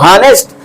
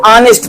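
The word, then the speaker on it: honest: टी क्या पढ़ेंगे इसको नेस्ट नहीं नेस्ट दिस इज रंग वर्ड नेस्ट नहीं पढ़ेंगे इसको ऑनेस्ट पढ़ेंगे क्यों क्योंकि एच आपका साइलेंट है एच साइलेंट है नेस्ट है लेकिन बोलते नहीं है ऑनेस्ट साइलेंट होता है तो ऑनेस्ट बोलेंगे और आ आ रहा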